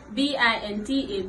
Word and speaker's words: Binta: It is spelled as BINTA Binta.